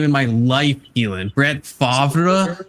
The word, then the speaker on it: Brett Favre: Brett Favre. That's how I would say it because I'm like French coded like that. It's Brett Favre. Everyone saying his name wrong.